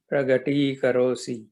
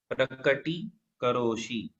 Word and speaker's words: प्रकटीकरोषि: जगत् त्रयमिदं त्रयमिदं प्रकटीकरोषि प्रगटीकरोषि प्रगटीकरोषि। हाँ, करोषि है, प्रकटीकरोषि है।